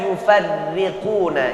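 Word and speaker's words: يفرقون: Yang pertama saya baca yufarriquna. Enggak dibaca yufarriquna. Ra-nya berharakat kasrah bawah.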